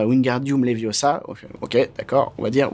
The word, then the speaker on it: Wingardium Leviosa: le dire comme ça il faut dire Wingardium Leviosa ok d'accord on va